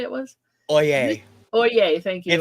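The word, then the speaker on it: Øye: o what did you say it was oay oay thank you if it's pronounced like they use it in the legal profession it's OA oay 2001 um so yeah this he is Nordic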